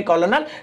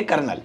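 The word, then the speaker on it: colonel: आप उन्हें लिखेंगे कॉलोनल, लेकिन पढ़ेंगे कर्नल।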